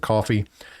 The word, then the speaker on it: Ko-fi: the link that says ko-fi they pronounce it coffee it's just like a